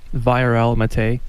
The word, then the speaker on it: Viorel Matei: Viorel Matei.